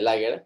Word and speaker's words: Lager: Entonces, sí, Lager, Lager se dice, pero en alemán se pronuncia Lager, es en el campo.